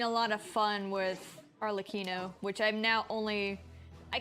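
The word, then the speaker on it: Arlecchino: I've been having a lot of fun with Arlino, which I'm now only I keep saying Arlacino because, you know, there's an H there, but it's really Arlino.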